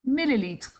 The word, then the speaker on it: millilitre: And milliliters is pronounced millilitre. Millilitre. Okay, so sounds pretty similar.